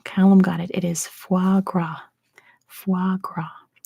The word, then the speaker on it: foie gras: there we go Callum got it it is foie gras foie gras not spelled like that calendar close enough you wrote anyway